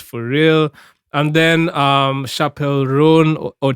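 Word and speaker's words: Chappell Roan: how to pronounce that I realized it's chap it's Chapel not Chapel it's Chapel run um and yo performance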